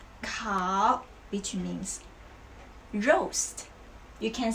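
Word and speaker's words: 烤: eight verbs okay so the first one is cow cow which means roast you can see this part it's the fire right so cow is the fire we can say cow young ro yang means the sheep yang zhou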